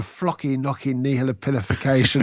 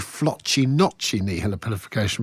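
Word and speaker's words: floccinaucinihilipilification: And just enough time to slip in flocky knocky nihilopilification, although I think I've mispronounced it. It's actually flotchy notchy nihilopilification, but never mind.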